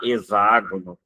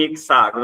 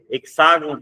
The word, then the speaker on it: hexágono: Eu insisto que não se deve falar exágono, eh, ainda que seja consagrado, porque ninguém fala exaedro, ninguém usa esse termo e em outro sentido, é só em hexágono, é um pronuncio.